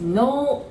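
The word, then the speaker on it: のう: So that's no u. But we pronounce it like no, no. As in like yes, no in English, no.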